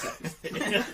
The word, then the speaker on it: CeX: It wasn't a weird little old shop; it was CEX. I don't know which is pronounced sex.